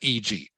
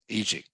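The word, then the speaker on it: e.g.: Lin you just say you just pronounce it EG EG um The Rise was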